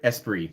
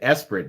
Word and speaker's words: Esprit: it's very good i did i say esperant esprit sorry sorry mispronunciation of the lotus esprit from being a child playing sega gt 2002 for xbox that was my favorite car in that game and i pronounced it espirit because i didn't know better sorry can you lock